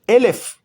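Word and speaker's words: אלף: Pero también Aleph, sin vocales, puede ser pronunciado Elef, que significa 1000.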